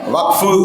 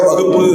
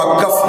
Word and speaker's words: Waqf: அரசியல் களத்தில் இருக்கிறவங்க வக்ஃபு அப்படிங்கிறத வகுப்பு அப்படின்னு உச்சரிக்கக்கூடாது. வகுப்பு சட்டம், வகுப்பு திருத்த சட்டம், வக்ஃபு WAQF இங்கிலீஷில். அதை மலையாளத்துக்காரங்க வக்கஃப் அப்படின்றாங்க, நாம வக்ஃபுன்றோம். அவ்வளோதான்.